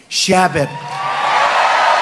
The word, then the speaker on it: Chabot: Congressman Steve Chabot. Great guy. Come up, Steve. Come up, Steve. You pronounced it right.